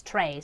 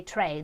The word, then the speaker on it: trait: minutes guys means trait Australians pronounced straight As tray so I'm going to say Trey that is technically the correct way to pronounce it just so you know